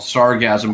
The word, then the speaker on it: sargassum: It's really called sargasm, but it's SARGASSUM is how it's spelled.